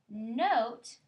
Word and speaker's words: note: if you said said note you're right n o we know it's oat because that bossy e tells the o to say his name now when we're reading